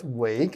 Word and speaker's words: Wake: In front of me, Tarot Wake. I've been told that this is the correct pronunciation for the last name.